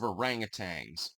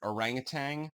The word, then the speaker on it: orangutan: Again, I am a big fan of orangutans. And by the way, I pronounce it orangutan, not orangutan.